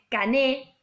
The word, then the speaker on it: Cané: Ingenieros, en un momento, primero piensa como en tomar a un pensador que es anterior a él, que es Cané, C-A-N-E, acento en la E, Cané, que plantea que hay un círculo social dominante, ¿no?